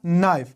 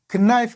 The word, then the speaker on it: knife: لکه نایف، دلته له کې نه وروسته ان راغلی نو د دې په خاطر کې نه د تلفظ شوی. نایف هم ویلي، کنایف هم نه دی ویلي.